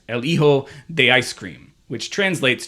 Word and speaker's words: El Hijo: However, at the beginning of the match, the announcer introduced him as El Hijo, because I think the H is not pronounced, El Hijo de Ice Cream, which